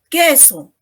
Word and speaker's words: queso: Queso, ¿no?, tampoco pronuncio la U.